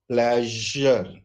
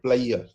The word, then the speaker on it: pleasure: a world like this like pleasure it is pleasure what we do is since we cannot pronounce this we call it player we normally skip this sound player but it is pleasure then it is J